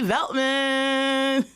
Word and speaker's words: Veltman: her name is veltman hey did I say that right your last name yeah it's really phonetically simple stra you never know